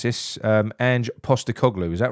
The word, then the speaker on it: Ange Postecoglou: Down Under, who's, I'm going to try and pronounce this, Ange Postecoglou.